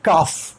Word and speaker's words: cough: इसे हम काफ भी कहते हैं, काफ अमेरिकन एक्सेंट है काफ, लेकिन ये ब्रिटिश एक्सेंट में हमसे कहते हैं कफ।